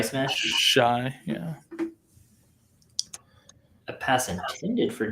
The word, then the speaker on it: Shi: Shi Smith? Shy, yeah.